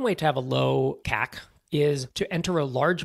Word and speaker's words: CAC: to acquire a customer it's often pronounced cac this number you want